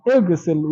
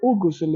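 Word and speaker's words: اغسل: So we say Igsil, Igsil. We don't say Ugusil, we don't say Agisil.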